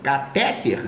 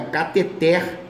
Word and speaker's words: cateter: aqui é outro mesmo cateter não é cateté é oxítona e importar o que